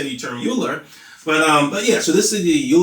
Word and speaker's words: Euler: So this is called the Euler-Lagrange equation, and I think it's pronounced Euler. I just like to say the term Euler, but yeah.